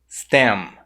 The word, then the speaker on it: stem: Mas no inglês, o som do M no final da palavra, ele não é pronunciado dessa forma. Ele é pronunciado com a boca fechada. Por exemplo, nas palavras cam, stem, seem. Você percebeu que no final, para pronunciar o M, eu fechei a boca?